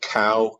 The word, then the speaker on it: Kao: Visual you're seeing there is from a presentation of my good friend Bill Gentner, who was the CEO of Kao Corporation. Kao is spelled K-A-O, not C-O-W.